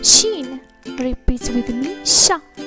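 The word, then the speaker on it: ش: The letter sheen, repeat with me, sha. The letter sha is pronounced like the clear English sound in H in show or shape.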